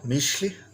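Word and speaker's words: mixtli: Shli, mishli, but it's usually pronounced as just mish.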